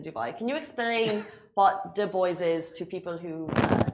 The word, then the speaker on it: D'Boys: can you explain what de boys is to people who uh don't speak Irish English yeah so in Ireland we we do a hard D for de so it's the turns